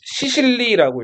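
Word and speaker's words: Sicily: 시칠리아를 영어로 읽으면 시실리라고 읽어요.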